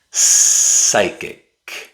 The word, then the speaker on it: psychic: The P is silent. pneumonia psychic Hmm.